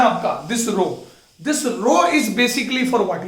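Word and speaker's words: rho: इस रो को अपन कहते हैं रो, क्या प्रोनाउंस क्या मैंने बेटा, रो, है ना, रो।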